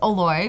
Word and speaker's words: Oloy: Like, so the actual pronunciation of YOLO is Oloy, because that's actually my name backwards.